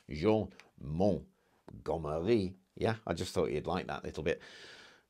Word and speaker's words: Montgomery: He's put in some trusted generals on board some of the ships, so that allows his admiral, Jean Montgomery, which the French pronounce Jean Montgomery.